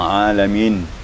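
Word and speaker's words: العالمين: Mir rabbil alamin. Ini hati-hati juga tentang alamin. Jangan sampai dibaca ain jadi huruf a, jadi huruf hamzah. Di alamin.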